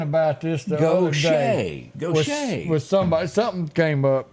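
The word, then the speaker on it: Gautier: Gaucher? Yeah. Okay. But it looks nothing. Why don't they spell it Goshay? It's French. Well, they got problems over there. We were talking about this the other day. Gaucher.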